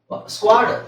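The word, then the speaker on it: squad: ಸ್ವಲ್ಪ ಹೇಳಿಕ್ಕೆ ಕಷ್ಟ ಆಗಬಹುದು ಕೆಲವರಿಗೆ ಯಾಕೆಂದ್ರೆ ಈ ತರ ಕಾಂಬಿನೇಷನ್ ಕನ್ನಡದಲ್ಲಿ ಇಲ್ಲ ಸ್ಕ್ವ ಅಂತ ಎಲ್ಲೂ ಇಲ್ಲ ಬರಿ ಕ್ವ ಇದೆ ಸ ನಾವು ಸೇರಿಸಲ್ಲ ಸ್ಕ್ವ ಸ್ಕ್ವ ಎಲ್ಲೂ ಬರೋದಿಲ್ಲ ಕನ್ನಡದಲ್ಲಿ ಎಲ್ಲಾದರೂ ಬರುತ್ತಾ ಸ್ಕ್ವ ಸ ಕ ಸ್ಕ್ವಾಡ್ ಸ್ಕ್ವಾಡ್ ಅಂತ ಕೇಳಿರ್ತೀರಲ್ವ ಸ್ಕ್ವಾಡ್ ಎಲ್ಲರೂ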